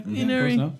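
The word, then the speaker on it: Ynnari: Yunari. Did I pronounce that right? Yeah. Yunari.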